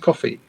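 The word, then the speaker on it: Ko-fi: Sorry, is it pronounced? Is it coffee? Is that how it's pronounced?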